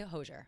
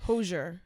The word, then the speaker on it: Hozier: We saw how do you say Hozier? I've been saying Hozier. I say Hozier. People are saying Hozier as well. I'm pretty sure it's Hozier. Probably that.